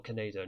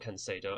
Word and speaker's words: Canedo: He is down there on the bench, so it might be a case of we need to bring him on for Canedo, not Cancedo.